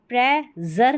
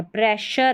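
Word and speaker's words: pressure: देखिए ये है यहां पर मेजर ठीक है यह है प्ल जर ठीक है ट्र जर और यहां पर प्र जर नहीं है प्रशर है इसमें शर पढ़ा है ठीक है एस यू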